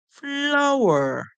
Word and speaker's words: flower: sound FL F the O and W together our our in this word we hear our our I know in other words like flow you'll hear o w together making o but in this one you're not hearing the O song you're hearing ow ow the e r remember